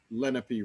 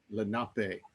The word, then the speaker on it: Lenape: i said yes i i live off of lenape road and he said oh you mean lenape and i learned oh i i've been mispronouncing the name of the tribe and i've lived here